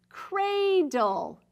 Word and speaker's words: cradle: It's an open syllable. That means this A is going to say A. Cradle. Say it again. Cradle.